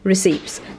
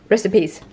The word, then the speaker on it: recipes: The only word, one of the words I really have a hard time pronouncing is recipes, because I say receipts because it spells receipts, but recipes.